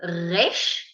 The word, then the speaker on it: resh: Okay, and then we have the letter resh. It's rolling.